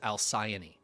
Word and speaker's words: Alcyone: I'm gonna go with Alcyone. Honestly, pretty solid guess. I believe the consensus is Alcyone.